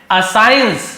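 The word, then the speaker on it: assign: वह बीरबल को बुलाते हैं एंड असाइन। देखिए यहां पर भी असाइन लिखा जी का साइलेंट रहता है।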